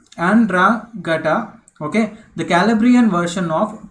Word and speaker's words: Ndrangheta: As far as investigators knew, Ndrangheta, pronounced Andrangheta, okay, the Calabrian version of Cosa Nostra, ranking in the last 20 years as the most powerful Italian crime syndicate.